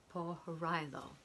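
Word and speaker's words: Pohorilo: grandmother diane poharillo and i'm not sure if i'm pronouncing that right but i would like to spell her last name p o h o r i l o po horizo is the way i'm pronouncing it okay look at these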